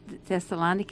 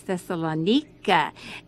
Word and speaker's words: Thessaloniki: went to thessalonica and they don't pronounce it thessaloniki it's thessalonika and i thought well